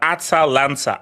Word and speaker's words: Atalanta: Atalanta. I don't know how to pronounce it.